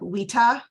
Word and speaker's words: vita: So U and V were interchangeable because in the classical Latin, a V is actually pronounced as a W, like a W. So you would say like vita instead of VITA.